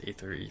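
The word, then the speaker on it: Aether: called the ather Foundation possibly ether or ather ather sure it's ather ather sorry you know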